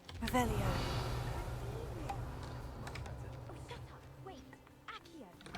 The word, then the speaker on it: Revelio: Rebellious. Saying it wrong. Revelio.